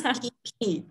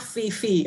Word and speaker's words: Phi Phi: It's Phi Phi. Not Fifi, okay? I know many people pronounce as Fifi. I think this is the way it kind of written in English.